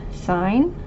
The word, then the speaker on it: sine: So we have sine, it's abbreviated SIN, but it's pronounced sine.